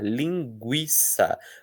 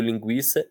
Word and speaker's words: linguiça: Existem casos em que o U do gu e o U do QU vão ser pronunciados. É o caso de 50 50 linguiça.